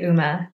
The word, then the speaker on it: UMA: people pronounce it differently what is the canonical pronunciation internally we say uma but i see the confusion it stands for